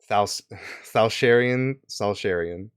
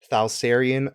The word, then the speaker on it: Thalsarian: Goes by the name of Thalsharian. I'm pretty sure I fucking butchered it. Give me a second. Yeah, I totally butchered it. It is Thalsarian Shalsarian.